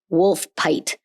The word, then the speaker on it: Woolpit: pit yay wol pit which apparently should be pronounced wolf pite wolf pite even though there's no F in this great was